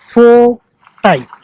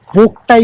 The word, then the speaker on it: Vogtei: এই প্লেসটার নাম হইলো ফোকটাই জার্মানে ফোকটাই বলে কিন্তু ইংলিশে যদি বলি তাহলে বোকটাই বলা চলে কারণ জার্মান যেই প্রোনাউন্সিয়েশন সেটাতে যেই ভিটা ভিটাকে ফো নামে বলে তো এই যে মিডল